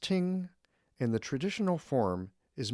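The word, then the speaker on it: 聽: The character is pronounced ting, and the traditional form is made up of the characters for ear, eyes, and ready for this?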